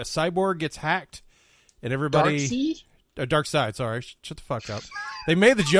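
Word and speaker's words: Darkseid: quinn they were like what is it is it dark side dark seed i don't know i mean it's pronounced i mean it's written seed i don't know why y'all say dark side anyway but is that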